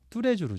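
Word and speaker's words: Tous les Jours: 또 다른 브랜드가 예 뚜레주루 뚜레주루 이거 뚜레주루 발음하죠 요것도 프랑스입니다요 뚜레주 그루가 어떻게 되면 뚜가 올이라는 뜻이고요 레스가 이제 레스를 바 말 지 않고 레로 발하는데요 레미 제압을 하듯이 그거와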